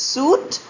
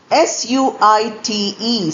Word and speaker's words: suite: Spelling s u i t e often mispronounced as suit. Not correct. Sweet and s w e t. They have different meanings and different spellings. S ui t e suite is a set of connected rooms.